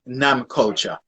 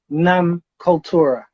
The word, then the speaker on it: Nam Cultura: up with the idea starting off first with nam culture all right so i'm gonna have to correct you there so that the name is actually nam kultura yeah called torah oh okay so we pronounce